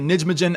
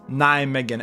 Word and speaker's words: Nijmegen: Obviously, in the last video, I was pronouncing it Nijmegen and everyone was flaming me in the comments, so I have figured out that the proper pronunciation is Nijmegen, and they're coming up against Bodø Glimt, who